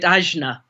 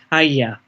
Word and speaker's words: Ajna: is why people who haven't heard it being pronounced by Indians call it Ajna. Whereas in India, certainly in the Northern Indian ashram I was in, it was pronounced Ajna.